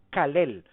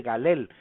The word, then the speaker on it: Calel: que decir algo, que el nombre correcto es Copán Calel, con Q o con C, ya que ese es el nombre y la forma más cercana a la pronunciación. Después se pasará al español o al castellano a la versión ya de Galel, pero en realidad el nombre original es Calel, y así aparece también